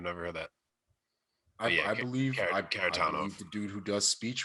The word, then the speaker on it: Kharitonov: Kharitonov. In the Russian, it's always like equal stress. Kharitonov.